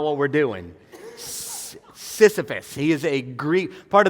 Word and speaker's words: Sisyphus: or the name I gotta say it right Sisyphus probably hadn't heard some of you might have Sisyphus which um it's not like a message on